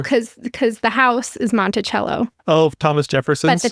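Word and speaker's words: Monticello: on the needles you could also stay in Montello which is right down there not Montello by the way that's a Utah pronunciation is Montell know cuz cu the house is monello Oh Thomas Jefferson but the town in Utah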